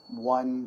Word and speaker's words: one: But one has a different vowel sound. A different sound.